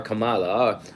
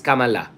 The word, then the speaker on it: Kamala: a Democrat he's not he's not our Cala by it's Kamala okay oh Richard you have